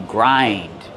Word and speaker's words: grind: You grind. You grind the pepper with a pepper mill. How do we pronounce grind? Grind. Use the long I like find and mind.